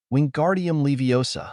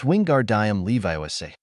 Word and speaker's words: Wingardium Leviosa: shouting in herm's ear Wingardium Leviosa the girl seemed to snap at his spitting you're saying it wrong it's wingardium Levi make the gar nice and long you do it then